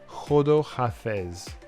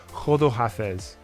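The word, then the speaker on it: خداحافظ: And to say goodbye, khodo hafez. Kind of sounds like hold up and then something with half as.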